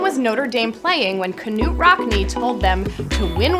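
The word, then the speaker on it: Knute: Notre Dame playing when Knut Rodney told them to win one for the Gipper Michigan Michigan State or army yes Canute is the Norwegian and proper pronunciation George Gipp was Notre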